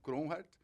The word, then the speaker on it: Kronhardt: Legal, eu sou o Cronhardt.